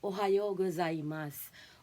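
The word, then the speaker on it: おはようございます: ohayo Ganyan ohas ba So yung right ah pronunciation of that is Ohio gozaimas or Ohio Okay so sa konichiwa naman konichiwa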